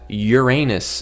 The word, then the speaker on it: Uranus: That I just found out that Uranus is actually not the correct pronunciation. Although so many people, at least in America, pronounce it that way, that it's sort of become like an honorary correct pronunciation, but it's Uranus.